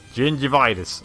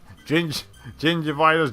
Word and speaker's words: Gingivitis: Gingivitis. Okay, that's how it is. Rhymes with ginger eye crust. Gingivitis, ginger eye crust.